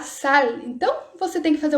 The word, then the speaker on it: sal: do Google Tradutor é treinar o L, que para nós no português tem o som de U. E se você falar com som de U, no Google Tradutor ele vai escrever com U. Então isso é bem bacana para vocês treinarem essa pronúncia. Então, por exemplo, la sal, essa sal, não é sal. La sal.